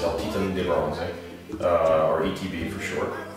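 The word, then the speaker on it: El Titán de Bronze: uh called uh in in English it's uh it's El Titan de bronze it means uh uh well in Spanish it's Elan De Bron uh or ETB for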